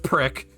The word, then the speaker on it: PRC: story in the Marines PRC Pro pronounced prick it is a radio